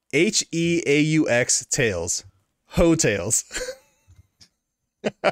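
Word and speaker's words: Heaux Tales: called well it's spelled yeah yeah the album is spelled h-e-a-u-x tails hotels all right that's solid yeah i i my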